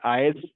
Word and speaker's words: IaaS: We pronounce this S आईएस, पैस and cess. इसको ऐसे प्रोनाउंस करते हैं। आईज, पैस एंड सैस।